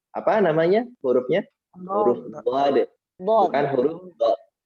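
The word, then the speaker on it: ضاد: Selanjutnya adalah pelafalan makhraj huruf dhad. Apa namanya hurufnya? Huruf dhad. Bukan huruf dha. Bukan huruf dha. Misalnya nih Bu Dery nih, Eza nanya, "Mah, ini huruf apa?" Huruf dha, jangan ya, tapi huruf dhad.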